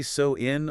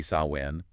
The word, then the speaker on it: Samhain: It's generally So-in or maybe Samhain.